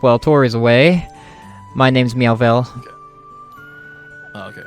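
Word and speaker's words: Meowvelle: My name's Meowvel. Okay, how do I spell that, please?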